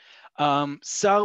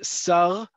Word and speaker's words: שר: Sar, we've talked about this before. Sar or Sar, depending on how you say the letter resh, that word right after the comma, means a minister.